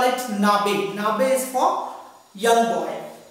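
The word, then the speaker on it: Knabe: For a young boy we say Nabe. Here K is silent, so you have to call it Nabe.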